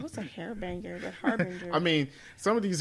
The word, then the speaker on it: Harbinger: The Monitor used Hairbanger. Is that how you pronounce her name? No, a Harbinger.